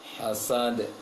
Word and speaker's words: حسد: Pengucapan huruf sin, hasidin, seperti baca ta, ujung lisan ke ujung gigi atas. Seharusnya seperti baca s biasa. Hasidin, sidin. Assa, hassa, hasidin, hasad, hasad. Jangan ujung lisan ke ujung gigi atas. Hasad. Seharusnya ke bawah. Seperti baca S bahasa Indonesia.